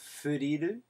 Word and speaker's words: Furil: here is a band by the name of furu it's spelled f i L uh it comes from